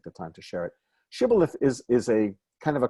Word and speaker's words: Shibboleth: They didn't pronounce a shin right, so vayomerulo. Here, let's look at it in English. They said to him, say Shibboleth, say Shibboleth, but he said Siboleth.